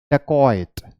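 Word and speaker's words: dacoit: बोलेंगे ठीक है तो हम इसे कैसे बोलेंगे डकैत राइट डकैत बट द प्रोनंसिएशन इज कोइट ड कोइट वन मोर टाइम ड कोइट ओके तो आप इसकी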